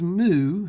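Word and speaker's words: μ: is the little symbol this is mu is how you say this mu with the u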